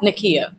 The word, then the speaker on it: Nakia: the integration yeah yeah Nakia oh my god I had her name rhymes with mine guys why did I